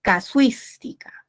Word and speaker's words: casuística: Muy bien, esta es la sílaba tónica, suis, ¿verdad? Y la tilde está porque es una palabra esdrújula.